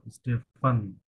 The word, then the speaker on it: Stéphane: micro-trottoir, Frédéric et Stéphane, ইস্তেফান বলছে, হ্যাঁ, যেভাবে উচ্চারণ করতে হয়। ফান পুরোটাই হবে স্টেফান।